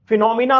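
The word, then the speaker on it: phenomena: उदाहरण के तौर पर फिनोमिना में पी साइलेंट है, ऑनेस्ट में एच साइलेंट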